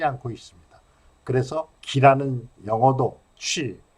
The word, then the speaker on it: qi: 그래서 기라는 영어도 취, 기의 중국어 발음이 취입니다.